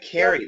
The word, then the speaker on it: carry: I want you it's it's not a long a but it's closer to a long a so it's care like air air care okay car fence post